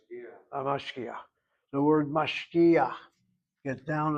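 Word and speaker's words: משגיח: You don't pronounce the word as mashkicha, it's mashkiach.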